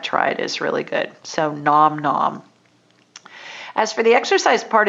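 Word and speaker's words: Gnom-Gnom: low carb recipes at nom nom and it's spelled g-n-o-m hyphen g-n-o-m and they have great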